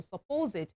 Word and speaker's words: supposed: So, your stress is on the second syllable supposed and it means believed by